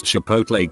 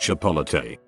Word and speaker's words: Chipotle: 50 in my life can't pronounce Chipotle correctly I had a coworker who was 26 who insisted it was pronounced chipo drove me absolutely insane